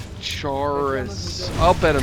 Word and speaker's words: Chaurus: How do you pronounce that word? Sack? No. No. Those egg sacs. What is that creature called? Chaurus? Chaurus.